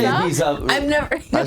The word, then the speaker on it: Ibiza: you do Yeah, little where on tour Ibiza did you like in trips?